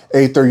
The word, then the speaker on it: Aether: And that universe today is known as the Aether universe or the Ether universe, depending on your dialect and how you say it.